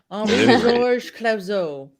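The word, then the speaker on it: Henri-Georges Clouzot: And I can't pronounce the director. Oh, shoot. I was hoping you would. Henri Georges Clouzot. Clouzot. Thanks, Fly Guy. Henri Georges Clouzot.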